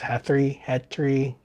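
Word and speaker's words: Htrae: reference to, um, uh, I think it's pronounced Hetri. It's Earth spelled backwards, or Earth Zero, which is the name of Bizarro World.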